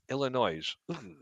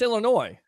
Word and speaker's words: Illinois: nails on a chalkboard when people try to say Illinois and they they enunciate the S at the end Illinois oh it's Illinois I'm no kidding but people go Illinois and it's like nails on a chalkboard what how do youor